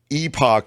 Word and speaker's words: epoch: and Epoch is okay either is acceptable in America but to be fair to Kim which it pains me to do uh Epoch is a a the British really the way that the Brits say it so that's on brand